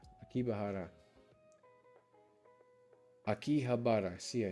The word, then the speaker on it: Akihabara: Akibara. Akibahara. Akihabara.